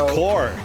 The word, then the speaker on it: corps: the one one so that's core the key is silent yeah yeah you're gonna